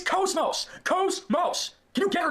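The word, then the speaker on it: KOS-MOS: And by the way, people say her name wrong. They always say like like Cosmos or Cosmos, whatever. It's Cosmos.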